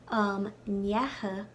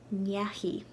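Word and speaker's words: ndeachaigh: Now, in my note under that, I have in Ulster, nyaha is only pronounced nyaha before personal pronouns, like tu, you, kanyahatu. But before nouns and like proper names, it's pronounced nyahi, nyahi.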